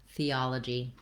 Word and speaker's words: theology: to pronounce theism and theology. So these two words have the same initial sounds, the voiceless TH sound. This is the same th sound that we have in words like think or both, as opposed